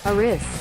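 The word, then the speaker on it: Eris: also discovered the dwarf planet how do you pronounce that one uh Isis Iris Aris okay Aris okay I I I heard you AIS Aris thank you um uh yeah Brown discovered AIS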